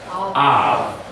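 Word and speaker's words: אב: So this creates a glottal stop, then closing off the syllable. So we have what? Av.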